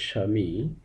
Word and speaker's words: স্বামী: যুক্ত থাকে তাহলে সেই ব ফলাটি বাদ দিয়ে উচ্চারণ করতে হয় যেমন স্বামী উচ্চারণ হবে স্বামী স্বাধীনতা স্বাধীনতা স্বাগত স্বাগত